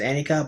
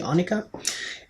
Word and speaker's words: Annika: I pronounced it as Annika, but it's actually Annika.